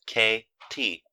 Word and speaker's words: Katie: my name and colored it is spelled k-a-t-i-e kate went on and it's pronounced k t try it and see